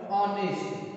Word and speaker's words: honest: Next, we many of the words like I think you know very well about this word honest. Okay, here the H is silent here and pronunciation start with the O.